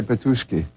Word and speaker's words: Petushki: in Russian, if you're not sure, is to accent the second syllable, Yeah, that's why I say Petushki.